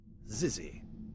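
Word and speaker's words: xyzzy: this word oh the sick word Zizzy there we go we got the proper pronunciation there so this exists this is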